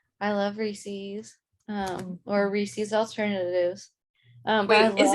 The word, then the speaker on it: Reese's: rhymes with pieces.